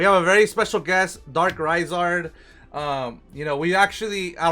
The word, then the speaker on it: Darkraizard: You know, It's actually Darkraizard. Darkraizard. Okay. But yeah, everybody usually just says Darkraizard. Okay. So that's absolutely fine.